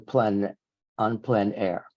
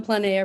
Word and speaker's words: plein air: I noticed that in your artist statement, in your artist statements, you mentioned that these are painted on plein air. I think that's how it's said.